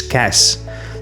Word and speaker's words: cache: And case, some people see the silent e at the end and think it makes the a long. It doesn't. It's cash.